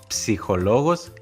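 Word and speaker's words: ψυχολόγος: Por favor, resistan a la tentación de ignorar esa P al principio, como se suele hacer en español, porque en griego se pronuncian ambas consonantes, una tras otra, P y S, que forman el sonido ps.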